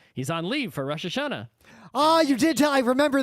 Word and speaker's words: Rosh Hashanah: Los Tacos to morono roshashana correctly pronounced Rosh Hashanah is like top holiday